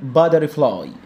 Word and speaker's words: butterfly: butterfly التي لما تيجي بين حرفين متحركين منطقه دي، فبقول butter. كلمه butter لوحدها يعني زبده، وكلمه fly معناها ذبابه، الاثنين مع بعض يبقى فراشه. butterfly butterfly. الواي في الاخر بتعمل لونج اي، fly، زي كلمه sky، زي كلمه try، زي كلمه cry.